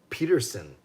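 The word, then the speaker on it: Pettersson: him that mmm and he says alias Peterson Elias Peterson but then we say Patterson cuz in Sweden it's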